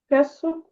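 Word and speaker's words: queso: Кесо.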